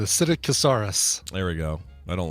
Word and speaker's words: Psittacosaurus: Pistococcus. Yeah, you just don't pronounce the P. The Psittacosaurus.